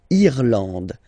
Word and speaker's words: Irlande: Irlande. Irlande. Okay. A-N, en, D, and final E, not pronounced.